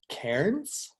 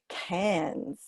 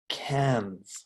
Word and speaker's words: Cairns: went up to this city up here called Cairns. Is that right? Oh, almost, Jared. We pronounce it Cairns. Cairns.